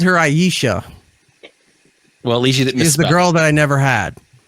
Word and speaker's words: Aesha: Aesha, like geisha without the G. Aesha is here.